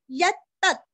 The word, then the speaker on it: यत्तत्: यत्तत्, यत्तत्, य के ऊपर आघात, दो त का उच्चार अच्छे से करके आधा त, यत्तत् यत्तत्।